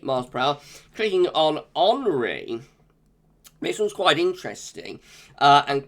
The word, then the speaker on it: Henri: I think it's Henri, not Henry. It looks like it's sort of the French the French spelling with an I rather than a Y. So I'm pronouncing this Henri. I know some people pronounce it Henry, but I think that is like the French pronunciation, Henri.